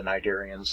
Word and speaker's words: Cnidaria: ancestral state are the nidarians and the tanoferons by the way these are greek words you know ancient greek and these two consonant pairs right here it's the second consonant you pronounce that's why it's cnidarian